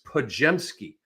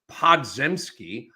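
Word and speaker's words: Podziemski: I call him Poj because it's Pajemski. It's not pronounced Podzemski.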